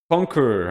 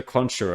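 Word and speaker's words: Concheror: Now the Conqueror. I'm just going to call it the Conqueror, not the Conjurer. I'm sure that some people pronounce it differently, but I think it's pronounced the Conqueror here.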